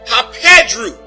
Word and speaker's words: hapedru: Now this next transliterated word is pronounced hapedru.